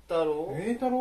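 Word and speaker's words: 栄太郎: 栄太郎って読むんだ、これ。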